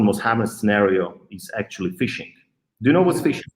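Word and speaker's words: phishing: your audience what is fishing fishing i mean it's very simple if you like fish you go fishing so no actually fish you know it's it's a different spell it's a ph ishing so uh fishing it's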